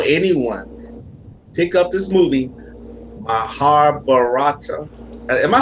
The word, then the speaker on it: Mahabharata: Yeah, I would tell anyone, pick up this movie, Mahabharata. Am I saying it right? Yeah, you got it, Mahabharata.